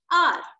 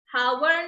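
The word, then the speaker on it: hour: ठीक है, इसको हम हावर नहीं बोलते हैं, इसको हम हावर नहीं बोलते हैं, इसको हम क्या बोलते हैं, आर। एच यहाँ पे साइलेंट रहता है, एच का साउंड नहीं होता है, सिर्फ हम बोलते हैं ओ यू आर का साउंड जो कि है आर।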